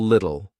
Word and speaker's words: little: about pronunciation A little little native speakers don't pronounce T's between two vowels it will either be a very soft D lid little do or you just won't hear it l l a little